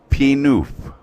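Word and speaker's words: Pie-IX: And the name of the road is P-Noof. Okay? Yeah. P-Noof. And it's spelled P-I-E, Pi, N-I-N-E, 9. Pi 9 is how it's written on the map.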